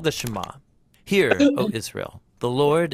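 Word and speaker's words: שמע: hear or listen which in Hebrew is pron pronounced shama that's where the prayer gets its name now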